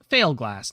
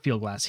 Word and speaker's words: Fieldglass: Pronounced like Failglass, not Fieldglass, he adds, unnecessarily, since we just heard him pronounce it wrong.